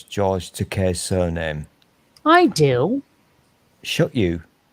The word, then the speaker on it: Takei: name and george said it rhymes with toupee oh that's seriously funny